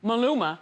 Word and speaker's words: Maluma: How do you pronounce his name? Maluma. Maluma.